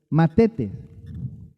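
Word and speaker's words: μαθητής: discípulo se deriva de una palabra griega que es matetes Sí así se dice bueno Y esa palabra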